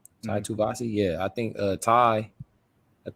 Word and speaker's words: Tuivasa: So I'm like, at some point I think Tuivasa, he's going to change what he's doing, and